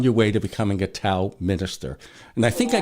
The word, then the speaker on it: Tao: bring the principles of Tao into your everyday life, everyday living. I guess I have to start saying Tao instead of Tao. Yes, it is pronounced like a D.